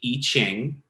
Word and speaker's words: I Ching: geometry of the Kabbalah the iching is or I Ching you hear both pronunciations are um it's huge in